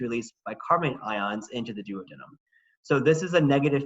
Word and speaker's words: duodenum: is called the duodenum some folks pronounce that duodenum i was taught to adam in school so i stick with duodenum so the duodenum does